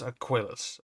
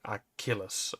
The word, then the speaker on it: Aquilus: Yeah, it was Aquilus. Uh now I know how to pronounce it finally. I always said Achilus or uh Aculus something like that.